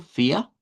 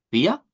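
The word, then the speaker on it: vier: la A eh con buscando no sonar eh la con sonido rótico, digamos esa parte, manteniendo el sonido que hemos aprendido, que es para el número cuatro, fia, fia.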